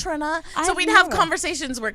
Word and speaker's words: Trina: And I was like, no, her name is Trina. Like the rapper. Like just Trina. Like everybody I've ever met named Trina. That's how you say it. She's like, it's Trina.